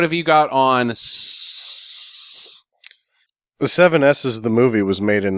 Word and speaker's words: Sssssss: you I believe it it's supposed to be pronounced s but that's stupid Hey slim Pickins made